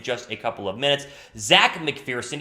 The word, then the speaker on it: Zech: ZECH McPHERSON, even though it's spelled Z-E-C-H, which is kind of weird.